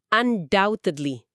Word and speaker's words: undoubtedly: Huruf B di tengah kata undoubtedly itu enggak diucapin. Jadi bunyinya undoubtedly.